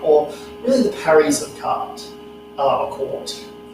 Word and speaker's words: quarte: parry of cart, or really the parries of cart, or court. It's pronounced cart, but it's spelled court, and it